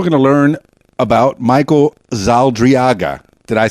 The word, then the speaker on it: Zaldarriaga: And we're going to learn about Michael Zaldarriaga.